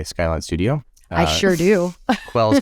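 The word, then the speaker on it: KWells: Quells Companies, which I pronounced as Kay Wells Companies for the longest time, until I started listening to your podcast and realized that we were going to pronounce it Quells.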